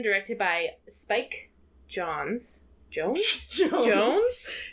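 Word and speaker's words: Jonze: ever read it and it looks like it's spelled John's Jony but it's Jonesy but it's Jones but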